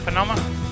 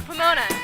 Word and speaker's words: Pomona: took care of business did i say it right panoma uh pomona see i always say it wrong see i'm sitting here